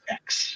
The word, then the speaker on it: X: it's just it's just an x it's it's pronounced x yeah i'm not like like like the iphone